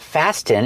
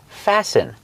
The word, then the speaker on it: fasten: Remember, with the verb fasten, the T is silent. It's not fasten, it's fasten. Fasten is a verb.